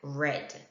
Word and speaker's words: read: hit cut and quit and read is the same however it is pronounced differently as red for other verbs there